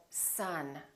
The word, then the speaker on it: son: we don't say love we say love or son my son or other we don't say either